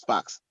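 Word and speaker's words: Spaqz: Spark, how do you pronounce Sparks? S-P-A-Q-Z, but it's pronounced Sparks.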